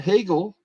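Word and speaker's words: Hagel: goal one assist and hegel rhymes with bagel for chicago one goal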